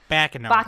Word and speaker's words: Baccano: to say it right no you gotta say as back in the rock you know because of the exclamation point is it it's in a it's Italian for the word ruckus I guess but yeah